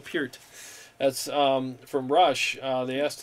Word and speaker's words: Peart: That's actually how you say his name, Neil Peart.